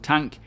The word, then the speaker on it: Tonk: And if you are wondering why they say Tonk instead of Tank, it is in honor of an ex-French developer called Corentin Billemont, I think that's how you pronounce it, who pronounced it that way on a video, and unfortunately due to